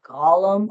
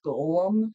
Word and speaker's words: golem: Uh, a gollum or golem, excuse me, how that's pronounced.